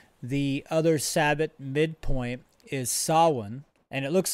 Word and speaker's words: Samhain: mention here that the other sabbat midpoint is sawin and it looks like it's pronounced samhain the way it's spelled s-a-m-h-a-i-n but it's solon and i believe that's gaelic or irish or